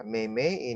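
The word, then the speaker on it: 妹妹: Nah, yang terakhir, mei-mei. Mei-mei yang artinya adik perempuan. Nah, mei-mei ini sama dengan papa, dia nada keempat.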